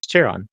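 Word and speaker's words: Charon: How to pronounce it, right? Cheron. Cheron.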